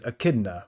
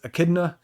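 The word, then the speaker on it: Echidna: on that, but I I'm just going to stick with Akidna, and all of the nicknames off of nicknames for her are going to be more based off of that pronunciation rather than with the O.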